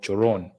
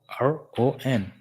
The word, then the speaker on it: choron: A toilet, latrine, they're called choron. C, the H is silent, as I told you guys. H is silent. Coron.